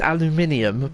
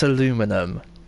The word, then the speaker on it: aluminium: It's aluminium, but you're missing a letter. That's why it's aluminum.